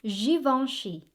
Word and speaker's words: Givenchy: find more of it as we go along givenchy again givenchy givenchy all right so givenchy was